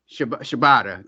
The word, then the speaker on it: Shibata: Shibata, that's how you pronounce it, Shibata.